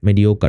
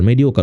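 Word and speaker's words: mediocre: In exam ওয়াজ মেডিওকার উচ্চারণটা খেয়াল করেন মেডিওকার মেডিওকার মেডিওকার উচ্চারণটা ঠিকমত করলে বানানো হয়ে যায় মেডিও আছে ডিইও তাই উচ্চারণ প্রপারলি করবেন তাহলে বানান ঠিক হয়ে যাবে thank you so much for participation দেখা হবে ইনশাল্লাহ নেক্সট ক্লাসে।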